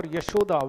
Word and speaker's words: Yashoda: This word Yashoda, it consists of two syllables. I mean, those of you who are familiar with Hindi will be able to get this. Yash and Da.